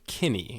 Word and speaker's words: Kinney: and I want to make sure that I pronounced it correctly for everyone to hear it was Ryan Kinney and I feel like as I was saying